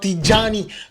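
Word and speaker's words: Tijjani: Next, we are going to talk about Tijani. That's how you pronounce his name, Tijani Reinders.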